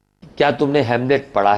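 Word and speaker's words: Hamlet: अब एक ने बोला हेलमेट, हेलमेट नहीं, हैमलेट। ये प्ले का नाम है, ठीक है। ये शेक्सपियर के प्ले का नाम है ये। क्या तुमने हैमलेट पढ़ा है? हाँ, ऑमलेट भी नहीं बोलना बेटा।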